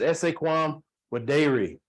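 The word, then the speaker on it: esse quam videri: that I live by and it's pronounced the pronunciation is essay quam with dairy that means to be rather than to seem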